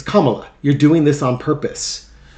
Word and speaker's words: Kamala: kept telling her correcting her on on the pronunciation of the name it's Kamala you're doing you're it's Kamala you're doing this on purpose and and then